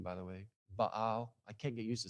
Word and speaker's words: Baal: Baal which I just learned that's a proper pronunciation by the way Baal I can't get used to saying it that way but baale I like to say baale because but in